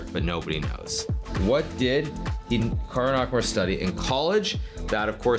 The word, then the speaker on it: Hikaru: Now, even myself, when I pronounce my name, it's definitely more Americanized versus Japanese. Certainly, if I was pronouncing it correctly, it would be more like Hikaru as opposed to Hikaru, but I've spent so much of my life here in America that that's just how I pronounce it, and everyone does the same thing.